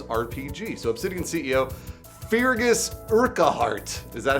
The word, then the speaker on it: Urquhart: So Obsidian CEO Fergus Urquhart.